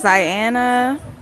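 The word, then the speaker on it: Zianna: you too introduce yourself my name is Diana spell it z-i-a-n-n-a yep just getting started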